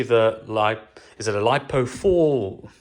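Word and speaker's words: LiFePO4: lithium and especially the light is it a lipo4 how do you pronounce it lipo I think it's lipo4 uh life po4 life po4 that's it so guys that's it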